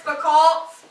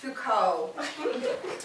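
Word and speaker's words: Foucault: once tried to reference fults at a party to make myself sound smart and my friend politely corrected me and said it's pronounced Fuko the only the only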